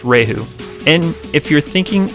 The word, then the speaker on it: Rieju: a new video is born it looks like reedu but it's pronounced rahu and if you're thinking it's just another knockoff